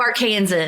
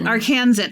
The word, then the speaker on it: Arkansan: How do you say it? Arkansa-ian? Arkin Arkin fellow Arkansan Arkansan.